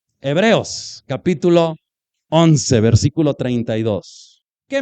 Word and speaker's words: Hebreos: Y siempre les corrijo, perdón que yo soy muy así, no se dice hebbrios. Hebreos, capítulo 11, versículo 32.